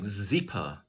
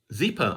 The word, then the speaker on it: Zeepa: to say it again it sounded like zipa not exactly but if you were to spell it in english it would be close to this zipa asked tom if the